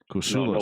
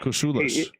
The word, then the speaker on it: Kousoulas: So my mom tells her friends, or used to when I was little, the way to pronounce the last name is it rhymes with useless.